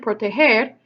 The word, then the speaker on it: proteger: it were normal well how do you say that word you say it protego well that does not sound like protea hair because the G in Port a hair sounds like an H really right put your hair